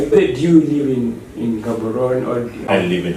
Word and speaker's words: Gaborone: do live in in gaborone I live in haberoni yeah I live in haberoni um the G is pronounced as H in the local dialect is okay yes yeah